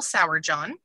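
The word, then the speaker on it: Sourjohn: um so I love Michelle Sauer John is here in Oklahoma and it is spelled exactly like it sounds s-o-u-r-j-o-h-n um and her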